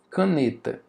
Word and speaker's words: caneta: Por exemplo, na palavra caneta. Caneta, qual é a sílaba mais forte aqui? É o né.